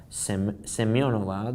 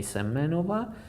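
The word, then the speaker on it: Semenova: Seionova that's correct. It pronounced like that on the Russian. Seiona Vasilisa on English we have here semena. We can use that also and say some manova where we have the typical uh isolated pawn position.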